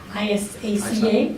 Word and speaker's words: ISACA: And he's a recognized audit professional, thought leader, and he's on the board of directors for, how do you pronounce it? ISACA, Yep.